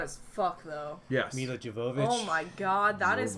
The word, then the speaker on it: Jovovich: filming of that, where she was saying her name wrong, and she was like, "Jovovich, what is the problem?